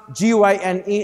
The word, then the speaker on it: gyne: You pronounce G-Y-N-E this way, gyne.